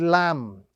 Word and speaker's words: lamb: And if you think of the English language, we look at one example, the word lamb, L-A-M-B.